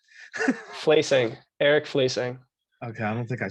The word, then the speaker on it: Fleising: in case i said it wrong placing eric fleesing okay i don't think i said it right